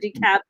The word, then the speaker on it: DeKalb: cream as i said dekalb county yeah i mean the l is silent ellis island okay so decap county is like the h at the end of shake yes it's more like